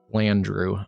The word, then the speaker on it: Flandreau: Yeah, I figured I was pronouncing it a little off, but Flandreau.